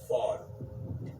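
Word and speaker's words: ephod: was called and it's it's spelled EP h o d but the way you say it is fod okay so right here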